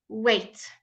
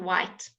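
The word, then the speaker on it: weight: Wait, wait. GH here does not have a pronunciation, okay? In many words, it is not pronounced, okay? It just changes the sound of the vowel. Wait, okay? Not white, wait.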